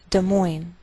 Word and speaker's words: Des Moines: Note that we treat the name of this capital like one word, and the greater stress is on the second part, so we say Des Moines, Iowa.